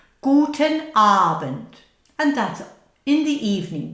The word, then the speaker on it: Guten Abend: Guten Abend. Now a long A and a short bend. Guten Abend.